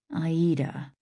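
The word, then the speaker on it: Aïda: It's pronounced Aida, he told B.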